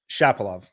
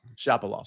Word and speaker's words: Shapovalov: How do you pronounce that again? Shapovalov. Shapovalov.